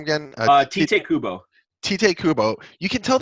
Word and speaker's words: Tite Kubo: Tite Kubo.